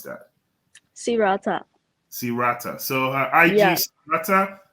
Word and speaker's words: Sirata: How do you pronounce that? Sirata.